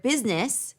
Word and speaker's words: business: And the word business, we hear 2.